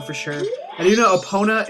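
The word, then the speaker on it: Epona: sure and you know oppona it does come from the Greek word for the god of horses and I believe it's pronounced apona hey who are you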